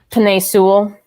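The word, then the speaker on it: Penei Sewell: was um god i let me find his pronunciation because i you know i suck at these you don't want to butcher it penne sewell yeah he was the seventh overall pick and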